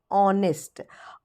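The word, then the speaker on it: honest: sound आता है तो एच साइलेंट हो जाता है और इसे हम पढ़ते हैं ऑनेस्ट ऑ यानी वॉवेल तो वॉवेल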